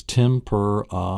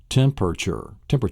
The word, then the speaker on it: temperature: There's actually 4 syllables in this. It's temperature. It's not where most people pronounce it temperature, like 3, they'll pronounce 3 syllables.